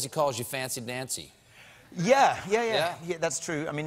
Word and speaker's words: Dancy: I think the truth is that when your name is Dancy, pretty early on, people realize it rhymes with fancy.